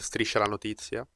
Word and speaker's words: Striscia la Notizia: And forgive my pronunciation, but I think one of them is Striscia la Notizia, Velina o altri programmi.